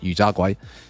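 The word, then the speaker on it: 油炸鬼: got this yu tiao, which is pronounced in Cantonese as yu jia guai, and this is pretty much like a fried churro that you dip in your congee.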